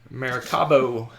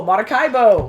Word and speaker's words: Maracaibo: I actually pronounced it Maracaibo? Yeah, you did. What's wrong with you? You sick? Maracaibo. Oh, well, there we go. Maracaibo. No, Maracaibo.